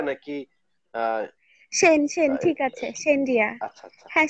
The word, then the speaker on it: Shane Riya: আপনার নামটার উচ্চারণটা যদি আমাকে একটু বলেন, আপনার নামের উচ্চারণটা কি সেনরিয়া নাকি সেন সেন, ঠিক আছে, সেনরিয়া। আচ্ছা আচ্ছা হ্যাঁ, সেনরিয়া।